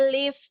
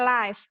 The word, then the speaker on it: live: ada yang judulnya Let's live Healthy Life ini bacanya lift bukan live kalaulah situ siaran langsung tapi kalau lift itu